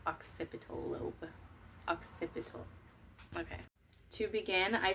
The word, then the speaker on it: occipital: It's pronounced occipital lobe.